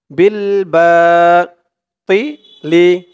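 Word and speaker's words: بالباطل: তিলি বলা যাবে না, তি বললে কিন্তু তার উচ্চারণ চলে আসবে। এটা ত, ত, তি, তজের তি। মুখটা একটু ভরপুর থাকবে এরকম মনে হবে তর উচ্চারণ করার সময়।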